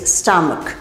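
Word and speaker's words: stomach: buses но Обратите внимание если CH на конце слова читается как к как здесь stom живот добавляем просто S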